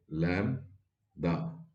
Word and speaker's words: lambda: me write it clearly this is pronounced as lam da this is the radius